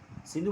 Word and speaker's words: Sindhu: In their language, the S became H.